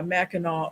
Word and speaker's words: Mackinac: here that's like people that always go to mackinac island and call it mackinac island yuck yeah connect with mackinac yeah mackinac or they'll go to mackinac island and then